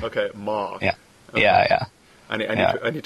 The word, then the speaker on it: Mahk: So properly pronounced it's you know pronounced in your Arnold Schwarzenegger accent Mark. Okay, Mark.